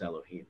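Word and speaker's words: יהוה: is it's when it's the Torah writes it as Yud Hey Vav Hey and you pronounce it as Elohim, but it's also known as Bina.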